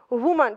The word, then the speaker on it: woman: Woman. Пишется o, читается woman.